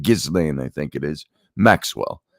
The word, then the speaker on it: Ghislaine: Ghislaine, I think it is, Maxwell, by Virginia Giuffre, who's claimed to be one of the victims of Epstein's sexual assault crimes.